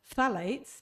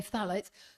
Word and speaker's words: phthalates: So that's phthalates, P-H-T-H-A-L-A-T-E. We can't pronounce them, but we can detox them. Okay, phthalates.